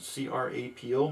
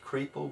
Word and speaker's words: Crapo: C-R-A-P-O. Maybe it's pronounced Crapo, but I prefer Crapo.